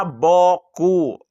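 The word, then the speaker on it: beaucoup: Tulisannya panjang, dibacanya pendek, huruf ada 10 yang dibaca cuma 4. Contoh tulisan di bawah ini. Dibaca boku. Huruf sisanya entah sedang cuti atau mogok nasional.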